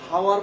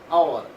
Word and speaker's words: hour: উচ্চারণটা কিন্তু হাওয়ার পড়ি না, আমরা পড়ি কি আওয়ার, আওয়ার। এখন এই এইচ কিন্তু উচ্চারণটা হয়ের মতো করে নাই, করছে অ এর মতো।